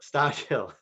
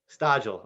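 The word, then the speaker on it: Stodghill: way stodge gill stockhill sorry did i mispronounce your last name it's okay jerry everybody mispronounces my last name no worries um it's it's stagill okay i got it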